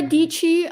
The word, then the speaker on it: Dietschy: should people follow dietschy rhymes with peachy yeah so my channel